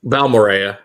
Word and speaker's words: Balmorhea: But how's it pronounced? Balmorhea. Balmorhea, okay.